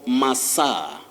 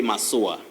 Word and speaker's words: massage: you know people massage so we talk of masa massa in english so natasha and our viewers don't say my sour okay i was pronouncing